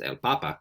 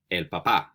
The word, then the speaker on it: papá: Does it mean potato? That's el papa. No. So it's el papá.